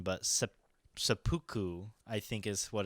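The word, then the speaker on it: seppuku: it is called i'm probably gonna butcher the pronunciation but supuku i think is what it's pronounced yeah yeah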